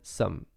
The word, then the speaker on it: sommes: Then when it comes to pronouncing nous sommes, it's actually quite different from the way you write it and how you say it. So for example, nous is like the first form, and then sommes. It's like you don't even pronounce the E, the final E and the final S.